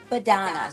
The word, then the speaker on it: Badonna: Badonna. So it's like Madonna, but with a B. Oh, Badonna.